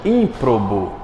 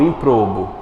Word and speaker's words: ímprobo: é uma pessoa desonesta ímprobo não improbo aerolito R palavr é